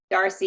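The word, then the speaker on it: D'Arcy: Is it Darcy or DRC? Darcy. You basically just ignore the apostrophe.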